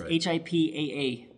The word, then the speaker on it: HIPAA: kind of important and the second P is silent just so you know that's HIPAA remember that so last